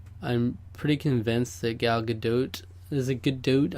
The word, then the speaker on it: Gadot: pretty convinced that gal gadot is a good dude I believe it's a good dote actually which is a really annoying pronounce the pronunciation of that name but a good dote it is she's probably the most